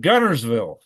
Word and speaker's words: Guntersville: You see, it's spelled Guntersville. It's pronounced Gunnersville.